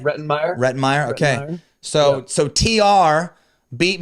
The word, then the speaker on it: Rettenmaier: Get the pronunciation right? Rettenmaier.